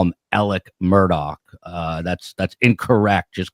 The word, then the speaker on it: Murdaugh: And so they're uh they will abbreviate uh pronunciation of a syllable we would elongate. And um it's um when you're in front of a college county jury though, it's Murdoch.